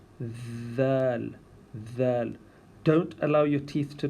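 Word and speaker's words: ذ: But remember that we do not make a Z sound. It's not Z. It's with the tongue in between the teeth, and we say Dhal.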